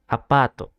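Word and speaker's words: アパート: case I have word apato right apart so there is a like a line Mark above the a it means that you have to spell it a little bit long a bottle so it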